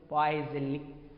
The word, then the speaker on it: Poiseuille: The complete name is, మరి pronunciation అలానే చేయొచ్చు కాబట్టి Poiseuille, Poiseuille అని అంటారు.